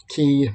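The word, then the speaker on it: quay: at the customs house key pronounced key spelled quu a y um those are I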